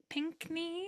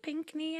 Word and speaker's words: Pinkney: notes by Jerry pink Pinkney Pinkney I think is is how you pronounce it um really beautifully